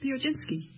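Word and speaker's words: Piechocinski: with you uh Charlotte uh how do you pronounce your name Theo jinsky would you mind spelling it p i e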